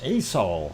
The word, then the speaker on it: Aso: Next volcano, of course, is Aso, and Aso is also located in Japan, and of course Aso is also referred to as Aso-san.